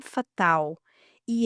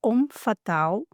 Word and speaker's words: homme fatal: Sim, pois hoje nós vamos falar sobre ele, o homem fatal. E eu já começo passando a bola para Gisele explicar porque a grafia e a pronúncia correta é homem fatal e não fatale, como a gente vê grafado a torto e a direito.